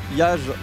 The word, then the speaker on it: Yaj: Et c'est Yaj YAJ. Let's go. Et on continue donc avec un match, encore un très bon match. Donc avec Yajli. On prononce que Ya.